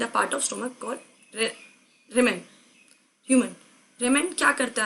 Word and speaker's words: rumen: होता है स्टोमक में, रेमेन, ठीक है, RUMEN, रेमेन, स्पेलिंग गलत मत कर देना।